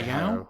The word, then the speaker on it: Hayao: I would say Hayao. I think it's spelled Hayao, but we just call him Miyazaki because that's all anyone calls him.